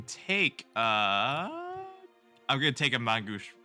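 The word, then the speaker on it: main-gauche: I can take, I'm gonna take a Mangoosh. How you freaking pronounce it? Mangosh? Parry. Mangosh, there it is.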